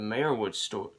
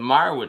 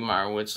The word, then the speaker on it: Meyerowitz: movie review of the mayor wood store uh i pronounced that wrong the meyerwood stories which was a 2017